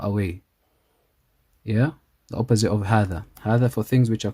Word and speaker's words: هذا: The first is هذا, the alif is pronounced but not written.